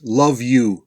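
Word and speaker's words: LOVVU: vinegar and under ghouls they're known by their initials l-o-v-v-u which they pronounce love you remember no that love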